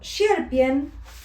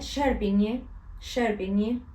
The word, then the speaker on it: Sierpień: Y veo escrito Sierpień, que fíjate que tiene una tilde en la N, se pronuncia como una ñ, Sierpień, es difícil.